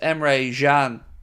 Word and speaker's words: Emre Can: It's pronounced Emre Can.